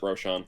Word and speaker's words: Rochon: Tipsy, this is Rochon, or is it Rochon or Rochon? I pronounce it Rochon.